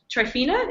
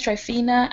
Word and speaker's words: Trifina: but not least um trifina am I pronouncing that right yes you are okay you want to go all right sure um my name is trifina and I'm from Columbia